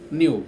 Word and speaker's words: knew: K-N-O-W, no, second form, knew, K-N-E-W, K is silent.